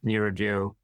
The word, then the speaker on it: neuroduo: It is neuroduo. Should be spelled NEURODUO, neuroduo.